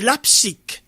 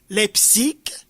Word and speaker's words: Leipzig: C'est Leipzig. Leipzig, c'est en Allemagne, là. Je suis pas certain de comprendre, de connaître ce mot. La prononciation n'est toujours pas comme littéralement, mais en tout cas, c'est Leipzig.